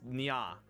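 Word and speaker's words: Ня: is the Russian alphabet, That is pronounced as nya, like a cat.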